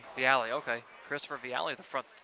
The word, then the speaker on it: Viale: Is that how you pronounce that last name? Viale. Viale, okay.